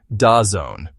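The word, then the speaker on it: DAZN: A third riskier jewel is Dazzen Group pronounced Da Zone a global sports streaming service.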